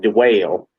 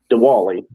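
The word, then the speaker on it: Dwayle: His first name is spelled D-W-A-Y-L-E. It looks like Dwale, but it's Dwally Smith.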